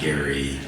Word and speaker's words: Jerry: Even though it's spelled Jerry, it's actually Gary.